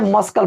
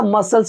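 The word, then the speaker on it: muscle: इसको तो भाई मैं मस्कल पढ़ता था। मस्कल, मस्कल भाई मस्कल नहीं होता, मसल्स होता है। मसल इसको बोलते हैं, मसल बोलते हैं।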